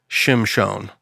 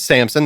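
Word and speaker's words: שמשון: bore a son and called his name Shimon that's how you actually pronounce it oh but it's Samson that's how we read it in English and the young man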